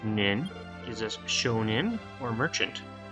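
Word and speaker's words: 人: Sho, which often gets translated as quotient, but also means business or dealing, followed by hito, which in this case is pronounced nin, gives us shonin, or merchant.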